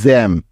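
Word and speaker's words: gem: আমাদের আজকের প্রথম উদাহরণ জি ই এম জ্যাম এখন বুঝবো কিভাবে যে যে এই শব্দটার উচ্চারণ জ্যাম হবে নাকি গেম হবে তাইতো এই সমস্যাটা দূর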